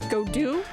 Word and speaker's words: Godot: Edgeworth yeah pronunciation time go dot is go Doo so kind of frenchish g g I'm